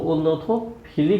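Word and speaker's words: ornithophily: तो फिली भी कह सकते हैं, फली भी कह सकते हैं, एज यू लाइक, जो आपकी पसंद हो। इसको दोनों तरह से प्रोनाउंसिएशन होता है।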